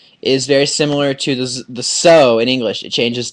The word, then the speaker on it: so: So, but notice the S sound is not pronounced like an S, it's pronounced like a Z.